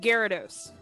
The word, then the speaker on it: Gyarados: It's they pronounce it Gyarados.